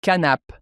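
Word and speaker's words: כנף: Mais le mot grec, je ne sais même pas comment le prononcer officiellement, mais en hébreu, c'est canape.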